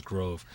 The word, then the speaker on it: Grove: of stuck and uh Groove was just a common mispronunciation of my last name which is Grove so it just kind